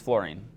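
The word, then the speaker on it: fluorine: It's not flowering, it's florine.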